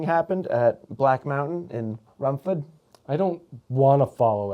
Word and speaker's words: Rumford: I said Rumford because that's the Mainer in me, but it's Rumford. I don't think anyone says Rumford. I say Rumford. Rumford. I don't say Rumford. I say Rumford. You pronounce the R and the D.